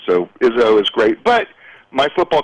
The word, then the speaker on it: Izso: You know what, the simplest pronunciation is, think of Coach Izzo Ova? from Michigan State, Uh-huh. and that is the easiest way to pronounce it. So Izzo is great, but my